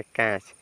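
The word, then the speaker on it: catch: जाएगा ठीक है ना टी के जस्ट बाद अगर सीच मिल रहा है तब भी आपका टी साइलेंट लेटर हो जाएगा ठीक है तो चलिए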